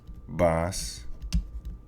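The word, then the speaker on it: vas: so we have boy boss ba now remember that this v here is pronounced like the b as in boy okay it's not pronounced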